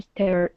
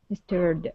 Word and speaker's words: stared: rounded the corner, Maron stared out the window. stirred out the window. Okay. And this is going to be stared instead of stirred. Stare. Give me a a long a stay.